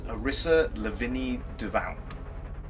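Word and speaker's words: Arissa Lavigny-Duval: He said it's Arissa Lavigny Duval. Okay. I think that's correct. Yeah, I always pronounce it like in French because it sounds Duval. It sounds kind of French to me.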